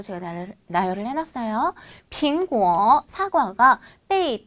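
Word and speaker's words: 被: 우리 요 아이 어떻게 읽어요? 빼이라고 읽죠.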